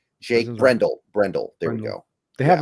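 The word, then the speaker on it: Brendel: did I say his name right Jake Brendle Brendle there we go they have a berford too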